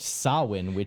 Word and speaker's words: Samhain: even in this movie, is Samhain, but it's pronounced Samhain, which makes no fucking sense.